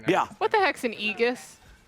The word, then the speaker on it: Aegis: Yeah, any words that are like AE are pronounced E.